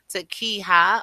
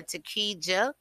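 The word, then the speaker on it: Takeeja: Police said Takeha, and it's spelled T-A-K-E-E-J-A, so that J is Ha, Takeha or Takeja, Moorhead, Lakita, L-A-K-I-T-T-A, Timpson, and Jasmine, J-A-Z-M-I-N-E, Irons.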